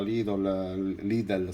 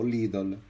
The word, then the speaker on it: Lidl: snobbo quando li vedo sugli scaffali, sia nella Lidl, scusate. Ultimamente c'è stato un utente che sotto ad un mio video mi ha corretto perché io pronuncio il nome di questo discount tedesco, lo pronuncio Lidl e invece va pronunciato Lidl.